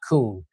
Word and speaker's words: Koon: O O N, just like the animal but with a K, is how I uh is how I say it when when I'm introducing myself to people. So, again, Koon is how I pronounce my name.